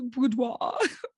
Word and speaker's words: boudoir: moments you feel like they're going to work, like when you see them at the boudoir. Is that how you say it? Boudoir Yes, photo shoot, boudoir, boudoir.